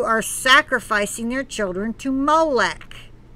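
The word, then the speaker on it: Moloch: sacrificing their children to molec it's pronounced molek he puts in parentheses but it's spelled m-o-l-o-c-h societies that fail to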